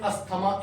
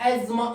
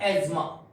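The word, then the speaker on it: asthma: बट my dears, the word is not pronounced as अस्थमा in English, the word is pronounced as एज्मा in English. क्या बोलते हैं इसको? एज्मा।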